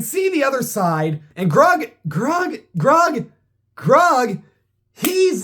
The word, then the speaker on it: Grug: Hug rhymes with grug.